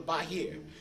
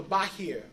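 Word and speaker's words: Bahir: with the discovery of a book called The Bahar many people try to say the Zohar is the first book Zohar is not the first book the first book is a book called The bah here you spell it b a h i r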